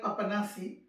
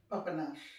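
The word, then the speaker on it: Papanași: menu e a p it sounds like papanasi but it is pronounced papanash and this i when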